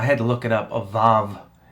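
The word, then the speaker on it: ו: to look it up avov is how i'm instructed to pronounce it i'm not an expert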